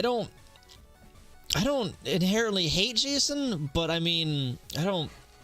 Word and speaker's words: JSON: the JavaScript stuff so cuz I'm not gonna call it JSON I'm not I'm just gonna pronounce it I'm gonna pronounce it Jason cuz that's easy to say I'm the first to